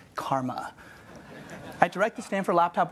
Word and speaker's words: CCRMA: by the way that shortens the CCRMA in this pronounced Karma I direct the Stanford